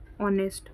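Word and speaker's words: honest: sentence यह ऑनेस्ट है H silent है इसमें ऑनेस्ट और आपको साइलेंट पहचानना भी है तो देखो ऐसे पहचानेंगे आप कि एन कैसे आएगा ऑनेस्ट इसको ऑनेस्ट पढ़ते हैं तो ओ आ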